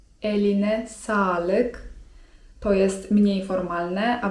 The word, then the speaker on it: eline sağlık: Kolejnym takim zwrotem grzecznościowym, myślę ciekawym i wartym nauczenia się jest: eline sağlık (czyt. eline salyk) To jest mniej formalne, a bardziej formalne: elinize sağlık (czyt.